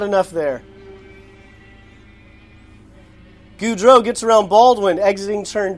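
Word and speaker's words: Gaudreau: into one but backs off not enough there goudreau gets around baldwin exiting turn two so now it's peugeot gudro pejo gudro baldwin wait too bad everyone doesn't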